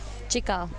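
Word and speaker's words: Cikal: Chikal. Chikal. Yes. In Indonesia, the C is usually pronounced as Chikal.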